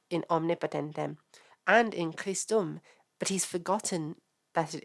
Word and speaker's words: Christum: speech for an O so they probably would pronounce it as kisto and they wouldn't actually they wouldn't actually be pronouncing the U they might have pronounced it as a um as a nasalized vowel they might have pronounced it as chist it's a bit hard